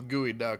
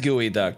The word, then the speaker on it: geoduck: is a is a I thought it was gooey duck but it is gooey duck that's true I forgot